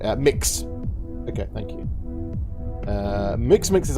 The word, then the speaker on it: Mx: How do you pronounce that? Is it Minx? I don't know how you pronounce MX. Mix.